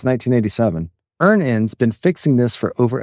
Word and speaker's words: Earnin: Download Earnin on the App Store or Google Pay, spelled like earning money without the G.